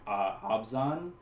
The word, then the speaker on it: Abzan: So this would be from the tribes of Tarkir, and this is Abzan. Abzan. Yeah. All right. Some people also pronounce it Abzan.